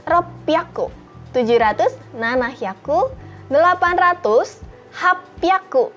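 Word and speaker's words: 八百: 800 hapyaku. Jadi bukan hachi hyaku tetapi hapyaku. Kemudian 900 kyu hyaku dan 1000 ini sudah berbeda lagi, kita masuk ke bilangan seng.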